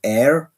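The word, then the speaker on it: Ayr: we went to uh air I think that's how you pronounce it a y r on the west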